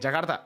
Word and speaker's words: Jakarta: It's not duh, not not D, but like T. So, the Rs and the T's are more like ah, you know, like more Jakarta. No, I know. Jagartha. Jagarta. See, that's how you say it.